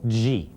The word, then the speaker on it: Ji: Also, it's preferable, especially if you're responding to a namaste, to reply with the honorific title Ji, pronounced like gee whiz, so that the proper greeting will be Namaste Ji.